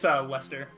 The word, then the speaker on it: Leicester: Yeah, it's Lester, but yeah. Lester? That is not how you spell the word know, Lester. I know. I played enough GTA 5 to know how to spell the name Lester.